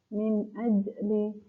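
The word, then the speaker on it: مِنْ أَجْلِ: Jadi ada pantulannya tapi kecil gitu ya, tidak terlalu jelas. Min ajli gitu. Min ajli.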